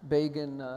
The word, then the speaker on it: Begin: And about a decade later, when Begin stunned the world and was elected prime minister, Time magazine famously or infamously, when they mentioned his name the first time, wrote Begin rhymes with Fagin, referring to the anti-Semitic Dickens character.